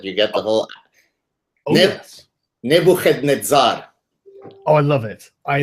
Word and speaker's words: Nebuchadnezzar: And even the early Christians, can I pronounce him the correct way for you so that you get the whole? Yes. Nebuchadnezzar.